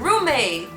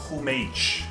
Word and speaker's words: roommate: The last word is roommate. People, that’s not “hoomatchie,” let’s pronounce it.